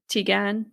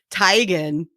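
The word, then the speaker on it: Teigen: one oh wow okay teagan tygan i get chrissy again though i have never heard anyone say it even though she said oh everyone's been saying it wrong for years and i'm just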